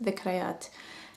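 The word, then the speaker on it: ذكريات: Zakreet means, it's actually pronounced in Arabic, it's pronounced dhikrayat.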